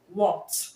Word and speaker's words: walked: Now the past tense of walk is walked, okay? Walked. The last sound in the word walk is k, okay? So you're going to pronounce the past tense marker as t, okay?